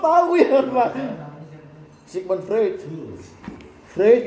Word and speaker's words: Freud: Freud bacanya orang Jerman, bukan Freud.